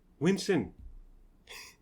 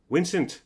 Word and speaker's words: Winson: Winson. And then she goes back inside. I'm like, okay, that's not me. My name is Vince. Comes back out. Winson. No. Vincent.